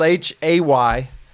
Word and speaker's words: Hayter: It's spelled H-A-Y-T-E-R. And so just the A is silent.